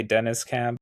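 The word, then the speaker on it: Deniz Camp: I don't know if it's like Denise or Dennis, but it's D E N I Z. Yeah, some people say Dennis Camp. I just say Denise Camp.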